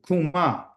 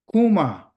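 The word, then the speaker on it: קומה: This is how you say to rise in Hebrew, kuma. Kuma.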